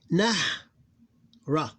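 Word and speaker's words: نهر: And what happened in this case here, this vowel ignored, and we read it as like if it have sukoon.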